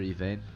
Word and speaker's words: Yvain: How do you pronounce it? Sir Yvain.